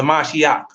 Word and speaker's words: mashiach: that's that's jesus christ that's how you pronounce it the mashiach the mashiach so giving thanks always